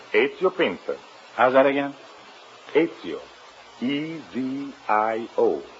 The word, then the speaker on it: Ezio Pinza: Is that the way you pronounce it? That is right. Ezio Pinza. How's that again? Ezio. E-Z-I-O. Ezio. Pinza.